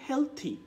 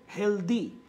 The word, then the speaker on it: healthy: should be হেলথি নট হেলদি সো আমি একটু আপনাদের কাছ থেকে চাচ্ছি এমন কারা কারা একটু এই যে শব্দের যে উচ্চারণটা শেখালাম আমি শব্দের শেষে টিএইচ ওয়াই এটা থাকলে আপনার উচ্চারণ হবে থি সো হেলথি এটা আপনি